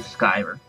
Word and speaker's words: Skiver: The Skiver. Rhymes with Diver.